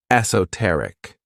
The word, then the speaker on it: esoteric: This word has four syllables and the stress is on that third syllable, esoteric. When we describe something as